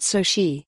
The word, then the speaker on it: Soci: And Khoury's startup Soci, pronounced soh-shee, has raised $12 million in Series C funding to help companies navigate that shift.